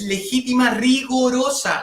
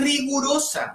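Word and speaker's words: legítima rigorosa: Otro tema, cuando hablamos de las asignaciones forzosas, la palabra es legítima, rigorosa, no es rigurosa.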